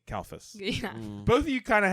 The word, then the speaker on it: Kalfas: gingrich yeah i did it i'm kalphus yes yeah try to say my last name kalphus both of you kind of have nightmare last